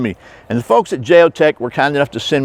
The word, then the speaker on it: JeoTec: spain by the way they did tell me my pronunciation was correct it is the heart of j pronunciation but we're talking about the geotech number 21.